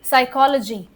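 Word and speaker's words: psychology: साइकोलॉजी पी का कोई role नहीं है।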